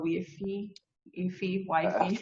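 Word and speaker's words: YFI: well no i've i've the community has decided it's wifey so i also call it wifey but when i originally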